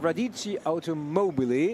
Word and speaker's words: Radici Automobili: of them are Italian, how to correctly pronounce Radici Automobili as the team, because I apparently nosed it up previously, not got it right. Well done, Radici Automobili.